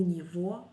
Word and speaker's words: него: У него есть. Pay attention that we spell G, but we pronounce V. У него есть.